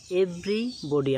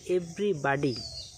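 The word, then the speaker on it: everybody: চলো next word এভরিবডি আমরা সবাই বলি। এটার দুটো সঠিক উচ্চারণ রয়েছে। আমেরিকান উচ্চারণ হচ্ছে এভরিবাডি এবং ব্রিটিশ উচ্চারণ হচ্ছে এভরিবডি, যার অর্থ হচ্ছে সবাই।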